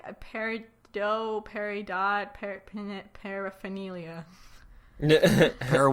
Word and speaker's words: Peridot: called they call her peridot although that is pronounced peridot but I mean it's a stupid name anyway